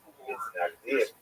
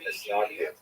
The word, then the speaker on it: Misnagdim: He is the knowledge head of the movement known as the Isnagdim, or the Isnagdim, as it's pronounced in Ashkenazi pronunciation.